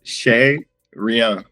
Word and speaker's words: Chez Rien: So how do you pronounce it again? So it's Chez Rien.